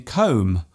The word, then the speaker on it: comb: For example, the B in comb, womb and bomb.